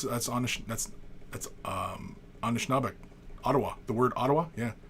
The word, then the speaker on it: Ottawa: the word Ottawa yeah it's when you say it under certain dialects item Odawa right it's not a tea sound it's a does sound right in some dialects of Michigan right what else I